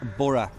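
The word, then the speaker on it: Burgh: Um so yeah, Bora good pubs. So it's pronounced B. So we said it when we first come Bur La Mar. It sounds a little bit French but it's actually pronounced Bora.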